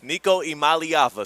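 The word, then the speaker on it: Iamaleava: Niko Imalyava.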